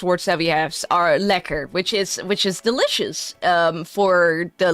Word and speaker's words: lekker: Liquor, yeah, you can pronounce it a bit more at liquor. That's like it's not like the liquor like that you usually have. It's more, yeah, you have to emphasize the eh.